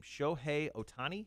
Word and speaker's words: Shohei Ohtani: uh how do you say this guy's name shohei ohtani it is yes oh nice good for me